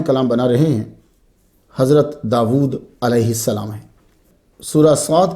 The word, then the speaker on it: داود: اسم داود قرآن مجید میں 16 مرتبہ آیا ہے۔ اس کا تلفظ داود ہے، ہم داود بھی کہتے ہیں، وا الٹا پیش وو، داود۔ یہ اسم جو